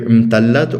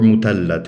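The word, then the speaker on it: مثلث: But this, well, first of all, the fact that it's pronounced as T's rather than th, muthallath, or musallath, I guess, makes me feel like, well, it's an inherited term.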